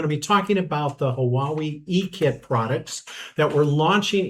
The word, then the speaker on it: Huawei: The easiest way to put it is you start with saying how are we, and from saying how are we, you blend it out nicely and add some intonations to it. I have had all different types of pronunciations for Huawei. I've had Hawiwi, Hawaii, but it's just Huawei, Huawei. So the actual pronunciation becomes Huawei.